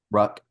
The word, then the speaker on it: Ruck: Rook? Ruck, like Rook, but Ruck.